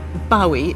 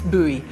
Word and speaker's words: Bowie: I always used to think that one pronounced his name Bowie until somebody told me, "No, you're wrong. It's buoy."